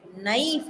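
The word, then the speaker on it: knife: ಕಟ್ ಅಂತ ಹೇಳ್ತೀವಿ ಇನ್ನು ಕೆಎನ್ ಐಎಫ್ ಇ ನೈಫ್ ಅಂತೀವಿ ನೈಫ್ ಅಂದಾಗ ಎನ್ ಬರಬೇಕಲ್ಲ ಕೆ ಯಾಕೋ ಎಲ್ಲೋ ಹೋಯ್ತು ಅಲ್ಲಿ ಸೈಲೆಂಟ್ ಅಂತೀವಿ ಆದರೆ ಕನ್ನಡ ಪದದಲ್ಲಿ ಆತರ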